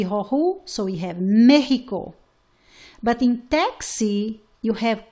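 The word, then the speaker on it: México: For example, in the word Mexico, it's pronounced like your H. It's the same sound of the J, okay? Ha, he, hi, ho, hu. So we have Mexico.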